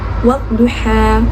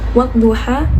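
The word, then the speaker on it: والضحى: Yang pertama itu wad-duha. Nah, bacaan di situ wad-duha ada alif di hukumnya alif lam samsiah, karena di situ ada alif lam tetapi tidak dibacakan, kemudian langsung ditasdidkan dengan huruf do.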